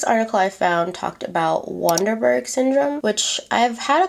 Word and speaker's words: Waardenburg: It's pronounced Waardenburg, I think.